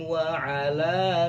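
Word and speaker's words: وعلى: Nah, di sini wa'ala dibaca panjang ya, 5 ketukan karena ini mad jaiz munfasil. Kemudian absori, wah ini sorry ya.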